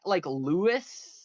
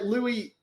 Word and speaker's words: Louis: I was like Louis. Most because Louis is typically spelled with a silent S, which is super weird.